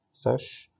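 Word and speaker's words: sech: تكملت طبعا الستة فانكشنز، في واحدة تشبه الكوتان والساك والكوساك نقول عليهم هايبربوليك كوتان اللي هي بننطقها كوتانش، هايبربوليك ساك اللي بننطقها ساش، هايبربوليك كوساك بننطقها كوساش.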